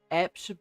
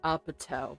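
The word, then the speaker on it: APT.: Okay, Foxy, are you familiar of a song called Apt by Rosé? So, the one that Bruno Mars sings. And I know damn well it's pronounced Apatow, but we're not getting into that right now.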